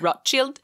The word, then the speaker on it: Rothschild: the same like rothschild i had a teacher named rothschild and then i went and lived in israel and they pronounce it so differently they pronounce it rock chilled and that's very different